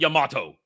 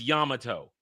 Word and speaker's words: Yamato: And they even say kira yamato. It's kira yamato. It's not yamato. It's yamato.